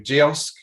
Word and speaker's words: Kiosk: And we also have to say a big shout out to Kiosk, which rhymes with kiosk, Impression, Content Cal, Fiverr, Redgate, Brand Recruitment, Gravity Global, and Third Lights.